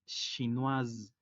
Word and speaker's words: chinoise: Por lo contrario, si hablamos en femenino, se le agrega una E al final que no tiene sonido, pero eso hace que la S se pronuncie porque ya no va a estar al final de la palabra. Y la pronunciación de la S entre dos vocales es como una Z. Por ello la pronunciación es chinoise.